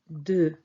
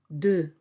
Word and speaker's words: deux: 2 is deux. Deux. Deux. Yes, this X is silent. Deux.